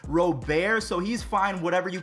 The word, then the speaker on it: Robert: in his home country, his last name is pronounced Robert, so he's fine whatever you call him.